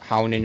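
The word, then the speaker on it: Huginn: instance, like Odin's ravens, Hugin and Mugen, or Hounin and Maunin, if you want to pronounce it technically.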